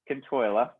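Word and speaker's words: Cionn tSáile: Kintoila, right?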